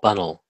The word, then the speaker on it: Bunnell: don't know what Bunnell actually you know you pronounce my name Bunnell if you want to get it right okay sure but